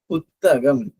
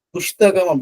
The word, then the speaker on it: புத்தகம்: புஸ்தகம் வந்து சரியான எழுத்து சொல்லுதான். புஸ்தகம்னா புக், புத்தகம்னாலே புக். ஆனா வந்து ரெண்டுத்துக்கும் என்ன வித்தியாசம்னா அதே நம்ம சொன்னதுதான் கிரந்த எழுத்துக்கு. புஸ்தகம் அப்படின்னு சொல்லும் போது இஷ் இஷ் இஷ் இஷி ஷா ஷி ஸ்ரீ இதெல்லாம் வந்து கிரந்த எழுத்துக்களை வரும். இது வந்து தமிழ் எழுத்துக்களை வராது.